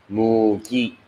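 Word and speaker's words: 무기: Instead of a B, you pronounce with an M. Yeah. Mugi.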